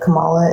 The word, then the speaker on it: Kamala: It's Kamala Harris.